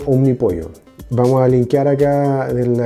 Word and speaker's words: Omnipollo: el nombre y efectivamente se pronuncia como un mi pollo vamos a limpiar aquí